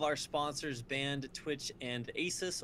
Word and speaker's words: Asus: Yeah, definitely super big fan of all of our sponsors, Band, Twitch, and Asus, or Asus, like Dr. Seuss, if you want to pronounce it that way.